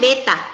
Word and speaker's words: beta: B sama dengan Ini delta A bacanya bukan B. per A. Ini bacanya beta. Beta.